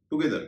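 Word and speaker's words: together: नीदर, नाइदर, गैदर, टगेदर। टगेदर को कई लोग टुगेदर कहते हैं, इसका सही उच्चारण है टगेदर।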